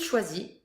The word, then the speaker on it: choisit: il choisit, Il choisit. final S, S, and T, Never that you do say. not pronounce.